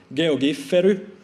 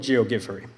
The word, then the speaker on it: Geogiffery: people quite a lot how to pronounce GOG furry that's how I promise it a finger would pronounce it Jo get ferry also heard a version G of G furry but I'll go with geogi furry the theory behind animated